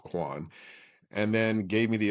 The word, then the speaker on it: Kwane: Altered the spelling and the pronunciation so I was called Quan.